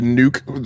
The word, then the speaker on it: NUC: if you kind of look at the Nuke or NUC form factor, depending on how you choose to pronounce it, that Intel has kind of been the proponent of.